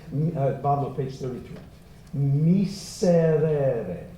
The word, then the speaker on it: miserere: Miserere, not mise, it's not a Z sound, I want an S. Miserere, say it. Miserere. And if you can't roll that or flip that R, sing miserere, like D as in delightful.